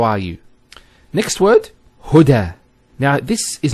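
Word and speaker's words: هدى: Now this is not actually a ya, it's an alif. It's called an alif maqsura, and it's exactly like an alif, the way it's pronounced. It's like a ya without the 2 dots. So we say huda.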